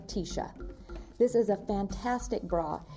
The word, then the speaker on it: Tisha: her sweaters and t-shirts when she says t-shirt quickly it sounds like tisha this is a fantastic